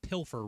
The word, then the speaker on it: pilfer: here with people that think that pilfer rhymes with silver. You people need to go back to kindergarten. Pilfer and silver. The F and the V do not make the same sound at all.